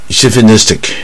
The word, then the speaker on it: chauvinistic: ，或者自以为是啊。Chauvinistic 也不好念啊，重音在 N 这边。